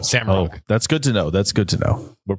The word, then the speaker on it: Roush: They're telling me you actually pronounce it not Roush but Rug. That's actually the correct pronunciation. Sam Rug.